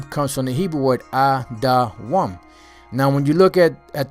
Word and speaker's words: Edom: All right, the name Edom is Adawam. That's how it's spelled, Adawam, which the name Adawam means red, like the color of Esau's skin, red.